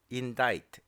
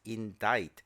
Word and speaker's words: indict: complexion on his face indict indict the suspect and that means to charge formally for a crime please note the pronunciation it is indict the C is silent in this word so for a criminal